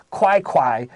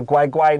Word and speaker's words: 乖乖: read the opinion the the opinion way first yes it is okay now i'll say it correctly if they put a bag of guai guai next to a machine